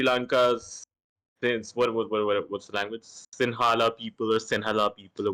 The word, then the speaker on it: Sinhala: The language is called like Sinhala. Singhala, Sinhala. Singhala. Yeah. He told me, yeah, he said Sinhali or something.